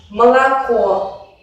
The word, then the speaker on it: молоко: O y A en la posición átona se pronuncian como una A muy breve y muy relajada. Por ejemplo, молоко. Solo se pronuncia de una manera plena la última vocal O, que es tónica, y el resto se reducen.